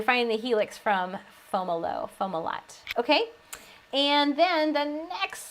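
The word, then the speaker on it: Fomalhaut: did i did we did how do you pronounce that star that's foam a lot or foam aloe is the secondary pronunciation omelette and fomolo perfect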